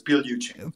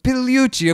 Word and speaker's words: Pigliucci: The G is silent, so it's Pigliucci. Pigliucci, okay, I'm sorry, I should have asked that.